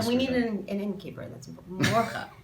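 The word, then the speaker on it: Mordcha: Morcha. Did I say it right? man. More glottal. Do it again. I don't want you to spit all I don't over the even- table, but. Mortka.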